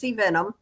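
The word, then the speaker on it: Vennum: picture of of Laurance Venom. This is her and it's spelled Ve Nu M. So when I say Venom, I really am saying Venom, right?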